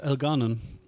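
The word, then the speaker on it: Elgar'nan: alanan El Ganan Elan well technically right if we keep um doing the second syllable that is El Ganan El Ganan took in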